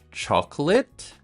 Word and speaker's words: chocolate: The first word is chocolate and climate. These are nouns or concepts or things. So that a te is pronounced it.